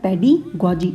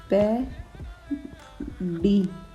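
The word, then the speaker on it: pedagogy: इसको प्रोनाउंस करने का थोड़ा सा ध्यान रखना। इसको ऐसे करेंगे पेडिगॉजी। ठीक है। हिंदी में भी लिख देती हूँ, पेडिगॉजी। ठीक है। ध्यान रखना, पेडिगॉजी ये ऐसे प्रोनाउंस होता है।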